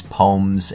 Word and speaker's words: poem: because some of these poems and poems, people like to point out that I don't pronounce both syllables in poems. Poem. In the Midwest, we're a little lazy with our words.